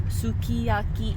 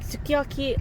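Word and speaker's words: すき焼き: And so like sukiyaki, we were saying as sukiyaki, like, you know, pronouncing every single syllable very like I guess like carefully. But when we were at the sukiyaki restaurant, the owner and I guess, I don't know, hostess would say it as like sukiyaki, like almost like a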